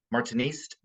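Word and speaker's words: Martiniste: The final S is silent in French. So Order Martinist Souverain.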